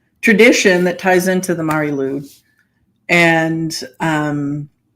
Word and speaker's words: Mari Lwyd: The Mari Lwyd. I think of it as Mary Lou. That's what it sounds like.